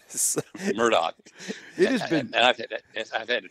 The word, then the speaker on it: Murdaugh: Murdoch yeah yeah or hey say it right Murdoch it is I've had to train myself it's Murdoch yeah okay murder okay I will we'll we'll